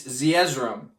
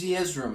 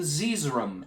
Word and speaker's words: Zeezrom: It's Zeezrom.